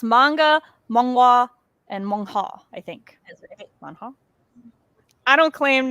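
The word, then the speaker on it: manhwa: n w H A I think the word you're writing I would pronounce is mong ha hold on let me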